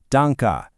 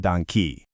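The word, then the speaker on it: danke: What is the correct pronunciation of the final e in the word dona? It's that soft h sound. Remember danka, definitely not donkey.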